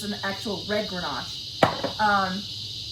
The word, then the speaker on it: Grenache: So this is a Grenache, but it's an actual red Grenache. They say you say Grenache. I've been saying it wrong.